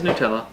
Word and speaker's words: Nutella: I forget how you pronounce it. It's Nutella.